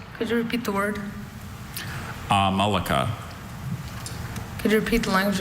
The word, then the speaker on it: amalaka: Amalaka is a bulbous or melon-like ornament terminating the shikaras of medieval Indian temples.